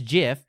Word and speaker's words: GIF: It is GIF, yes, like the peanut butter. All right, here's the part where you're really right in. Because giraffe. I guess, like, maybe GIFs could be called GIFs.